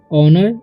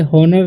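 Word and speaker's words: honour: इन ऑनर, इसे हॉनर नहीं पढ़ता है, ऑनर पढ़ते हैं, ठीक है। यहाँ पर एच का उच्चारण, सॉरी एच का उच्चारण होता ही नहीं है, ठीक है, ऑनर पढ़ते हैं, ऑनर ऑफ, ठीक है।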